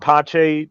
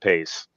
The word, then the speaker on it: Pace: Agent Pache, she was Italian. That is the correct pronunciation. It's not Pace.